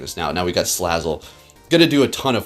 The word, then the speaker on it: Salazzle: We're going to bring in Salazzle. Wow, I called it Snazzle again. I'm doing it again. See, I get into the routine of saying it correctly, and then I go back to my old ways.